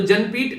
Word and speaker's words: ज्ञानपीठ: तो जनपीठ बेसिकली नाम इनका ज्ञानपीठ है, ठीक है, तो स्पेलिंग को देखकर आप लोग कंफ्यूज मत होइएगा।